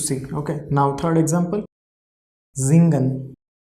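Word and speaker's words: singen: zen means to see okay now third example zingan s i after s vol is coming i is coming pronunciation of s will be so z gun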